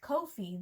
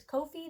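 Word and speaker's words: Ko-fi: I looked it up it is Kofi the creators have said it's Kofi because it rhymes with no fee anyway there's a link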